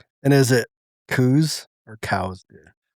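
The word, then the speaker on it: Coues: So the guy's name was cows. Yeah, that's how you pronounced his last name.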